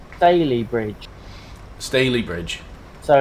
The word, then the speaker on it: Stalybridge: a private charter ladies and gents miters it's pronounced Bailey bridge Stalybridge so it's just a really stale bread yeah